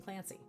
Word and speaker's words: Clancy: King Clancy sounds very fancy. King Clancy rhymes with fancy.